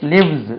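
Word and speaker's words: lives: above his shop he l ஐ வி எஸ் லிவ்ஸ் z என்று உச்சரிக்கணும் ஹி லிவ்ஸ் ஹி லிவ்ஸ்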